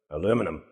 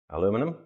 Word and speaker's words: aluminum: I'm British, so I say aluminium, but Americans pronounce it aluminum. Aluminum. Aluminum.